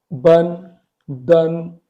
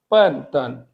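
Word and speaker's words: 笨蛋: उसके बाद आप इस वर्ड को रीड करने की कोशिश करें, आप इसको कर रहे होंगे बन, दन, एक्चुअली ये है पन तन।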